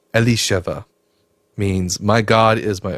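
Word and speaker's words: אלישבע: Um, in Hebrew, it's pronounced Alisheva, means my God is my oath.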